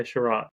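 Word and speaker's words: Chiarot: a r o t I don't know how to say it yeah sherat that's what they were saying last night yeah he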